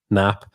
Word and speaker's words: Knapp: And we've got Keith Knapp, K is silent, so Keith Knapp.